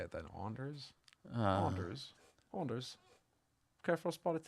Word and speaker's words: Anders: But then how do you say it in Danish? Anas.